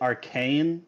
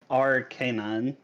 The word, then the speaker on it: Arcanine: actually quite funny because most people pronounce it Arcane but it's R canine yeah that's what I